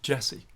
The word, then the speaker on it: DJESSE: are in the world of Jessie today Jessie pronounced Jessie and I'd like to tell you all about